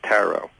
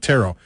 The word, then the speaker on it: tarot: in dictionaries it says tarot all right tarot but what you know you could sit but you could go tarot tarot it doesn't matter as long as you don't pronounce the final T all right now I'm